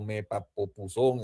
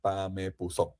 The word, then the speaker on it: Pamepuzón: se ha molestado porque no he podido a veces decir muy bien Pamepuzón, a veces le digo Mepapopuzón, bueno, en fin, pero el personaje se llama Pamepuzón, tomando la primera sílaba de cada uno de estos ritmos vallenatos.